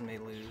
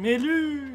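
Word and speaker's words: Mail: Isn't her name just male? It's male, but I don't know why I said may lose. Maybe that's how they say it in the Japanese version. Meru!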